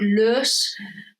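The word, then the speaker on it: loess: is material that is called L which is spelled really weird it's l o s anyway so the idea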